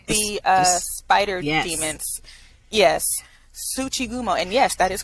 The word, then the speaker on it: tsuchigumo: it oh yes the uh spider demons yes tsuchigumo and yes that is correct how you pronounced it you can call them spider demons